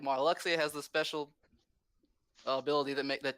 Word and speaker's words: Marluxia: pronounced Marluxia.